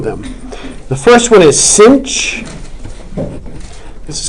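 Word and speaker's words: sinh: do two of them the first one is cinch this is called the hyperbolic sign okay it's pronounced cinch it's equal to e to the x minus E to the opposite of X all over 2.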